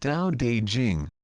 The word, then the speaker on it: Tao Te Ching: Long ago, the first time I read the ancient Tao Te Ching pronounced Tao De Jing, I ran into so many apparent contradictions that I felt like I was going cross-eyed with confusion.